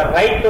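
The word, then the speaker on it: ر: கொஞ்சம் ஹார்டா இந்த நாக்கு தட்டி வார மாதிரி அப்படி சொல்றோம் இல்லையா, பர் கர் அந்த மாதிரி வார அந்த ரா தான் இது ரா.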